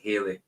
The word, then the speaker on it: Halley: So you remember as a kid, Jim, I remember being told as a kid it was Halley, but pronounced like Haley. See, I always thought, I have heard people saying Halley's Comet, but I've always said Haley.